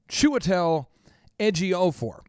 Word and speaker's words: Chiwetel Ejiofor: this for at least a month, practicing the pronunciation of this, and it's still not helping, but it's Chiwetel Ejiofor.